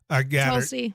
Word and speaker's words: Tulsi: I mean, is that how you pronounce her first name? Tulsi.